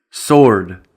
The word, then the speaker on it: sword: And then also, the letter W is silent in the following words, for which we have